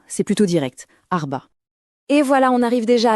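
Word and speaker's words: أربعة: La prononciation, elle est assez rythmée. Arba. Arba c'est plutôt direct Arba.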